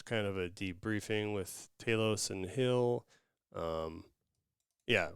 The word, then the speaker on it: Talos: have uh saurin and is it ta Taos you said is how you pronounce it Taos you want to say TS or something but um